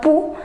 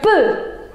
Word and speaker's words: peux: Je peux. Je peux. Remember, it's not pou. Some people say it pou, it's not pou. Je peux.